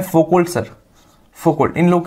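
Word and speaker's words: Foucault: फोकोल्ट, ठीक है? अच्छा, फोकोल्ट है लेकिन इसका प्रोनाउंसिएशन होता है फोको, एल साइलेंट होता है यहाँ पे।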